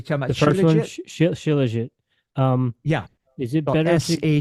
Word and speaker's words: Shilajit: It's Shaljit, is that how you pronounce it? Which one are you talking about? The first one, Shilajit?